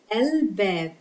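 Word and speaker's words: الباب: Bab, Al-Bab. Bab, Al-Bab. Again, Lam has sukoon and it is pronounced because it is followed by Bab, which is one of the moon letters that make Lam pronounced.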